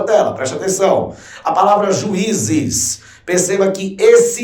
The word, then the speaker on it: juízes: Ninguém diz juízes. Você não diz isso de uma lapada só, meu amigo. Você diz separando as sílabas. Juízes.